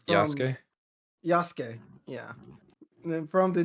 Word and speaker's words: Yasuke: Yosuke, from Yasuke. Yasuke.